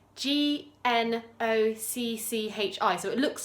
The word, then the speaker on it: gnocchi: top as well so no key or gnocchi how it's pronounced is a type of